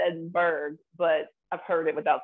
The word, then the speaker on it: Edinburgh: can say this one my brain says edinburgh is that again edinburgh perfect yeah all right you got it right yeah you're the first american to get that right that i know that's my british television watching yeah because most most americans will say edinburgh or edinboro edinboro they might say oh